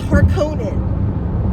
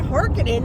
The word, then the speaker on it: Harkonnen: the are the harkenings like it's harkonnen baron harkonnen and my friend rachel she heard it she was like what harkening that sounds like a red eye i'm hearkening like why why do they pronounce it that way it's harkonnen it's so much more royal like baron harkonnen i i'm sorry like